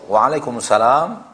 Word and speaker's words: waalaikumsalam: Kalau waalaikumsalam panjang benar. Waalaikumsalam. Setelah lam ada alif. Setelah itu mim. Waalaikumsalam. Panjang lamnya. Adapun asalamualaikum harusnya kumnya tidak